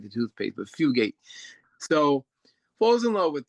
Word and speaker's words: Fugate: Um he falls in love with Fu um Fugate and um keep saying I always want to say her name wrong, but it's Fugate.